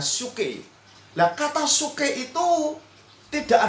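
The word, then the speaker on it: ψυχή: itu bahasa Yunani-nya tuh dipakai kata suke, pesuke ya. Saya bacanya suke.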